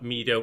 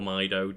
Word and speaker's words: Mido: And there's a character it's like I it's spelled M I Oo, but it's like Mido or Maido depending on who you ask.